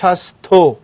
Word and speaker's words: স্বাস্থ্য: স্বাস্থ্য, কারণ শেষে যেটা তুমি নিচে হর মতো দেখতো সেটা হ না, এটা থ, তারপরে জফলা আছে, সুতরাং স্বাস্থ্য, শ্বাস শ্বাস স, স্বাস্থ্য।